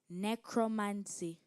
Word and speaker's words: necromancy: supposed communication with the Dead necromancy am I pronouncing the word right necromancy you are necromancy n e c r o